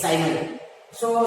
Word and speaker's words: Symonds: And D is silent.